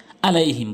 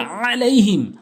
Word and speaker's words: عليهم: লাই, হামিম জের হিম, আলাইহিম বলে অনেকে, বলতে হবে আলাইহিম, আলাইহিম, আপনি চাপ দিয়ে বলুন, সঠিক উচ্চারণ হবে এবং